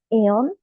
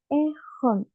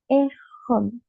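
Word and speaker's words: えほん: Ho pero sepan que la h en el japonés No es muda como en el español sino que se pronuncia como una J al igual que en el inglés Sí entonces no es eon sino que es ejon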